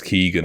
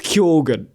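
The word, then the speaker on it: Keoghan: last name you know whereas Barry gets Keegan or or Kogan or you know but me easy to understand. Barry Barry actually said it was Kogan recently and I was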